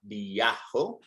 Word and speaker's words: viajo: And it's an A. Viajo, viajas.